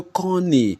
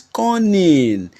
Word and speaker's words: conning: one strikes me like often you hear people say ah this that that boy is so Conny he's so Conny so but of course there is nowhere like Conny see you n n y the word is conning conning see you when somebody is tricky con see you see you double n ining that is conning then again we don't